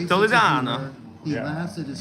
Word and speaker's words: Toledano: I met him a couple of times and I keep mispronouncing because I go. Yeah. Everyone says Toledo. Toledo and Chan. That's Toledo and Chan. He's like Toledano.